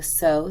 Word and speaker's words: sow: is going to go sow, sow, sow the word, like a row, row, row your boat.